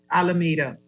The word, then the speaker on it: Alameda: Everything came out because they were propping up, how do you pronounce it? Alameda? Alameda.